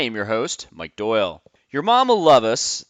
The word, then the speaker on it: Yermomlluvus: your host mike doyle your mom will love us that is the way that you pronounce the name if you're looking at